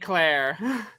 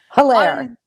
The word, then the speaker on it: Hilaire: This has been our very special guest, Deborah St Hilaire. Hilaire. Hilaire. Hilaire. I have been mispronouncing her name for an entire hour.